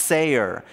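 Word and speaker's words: שר: here is really interesting it's spelled s-a-r and it's pronounced sayer and and it has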